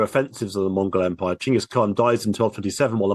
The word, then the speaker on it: Chingis Khan: And Temujin in 1206 takes the title Chingis Khan, which of course he's much more famous for, Genghis Khan, as it's yes, sometimes pronounced.